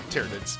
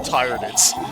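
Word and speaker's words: Tyranids: pointing at the like, "How do you pronounce that?" And they were all like, "Tyrids." I was like, "Cool." Cuz in my head, they were tyrannids as in like tyrants.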